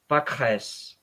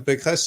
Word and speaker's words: Pécresse: Valérie Pécresse, if I pronounce that properly.